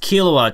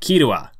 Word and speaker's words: Killua: Like, in that video, I pronounced Killua 2 different ways. Like, I said Gon and, I was addressing Gon and Killua, and then at another point, I was like Kirua, trying to pronounce it more as like the Japanese way of saying it.